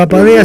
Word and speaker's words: Apadea: Bueno, pero Apadea se escribe... No hay problema, lo van a buscar. Apadea es como suena, Apadea, Asociación Argentina de Padres de Autistas.